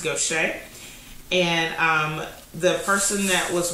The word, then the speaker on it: Gautier: And so it's in a town called Gaucher, Mississippi. Gautier is pronounced Gaucher.